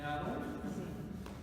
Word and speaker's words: Aarón: De aquí, hermanos, Aarón lleva acento en la O de Aarón.